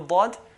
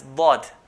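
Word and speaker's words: ضاد: The makhraj point for dad is the side of the tongue, one of the sides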